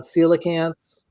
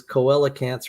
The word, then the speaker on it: coelacanths: to tell you because you mentioned uh coelacanths you know I I didn't even know that's how it's pronounced I always thought it was koelicans or something or anyway why don't